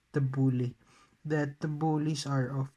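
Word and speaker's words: T'boli: nama data okay sometimes it pronounces t bully but actually it is pronounced as the bully that the bullies are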